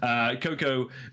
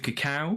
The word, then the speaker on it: Cocow: Cocoa, it's just Cocoa. I went with Cacao for a bit, but then I realized that might be legal as a and then Cocoa W is what I went with